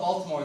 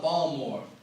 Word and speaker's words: Baltimore: Like, they don't call it Baltimore, they call it Balmore. This dude was like, hey man, welcome to Balmore. I was like, what are you talking about? You know, Balmore. I was like, dude, I'm literate. There's a T in the middle of that fucking word, and everyone that lives here isn't allowed to mispronounce it.